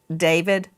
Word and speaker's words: D4vd: What a coincided that he David some look at his name and it looks it looks like D4 VD and he pronounces it David.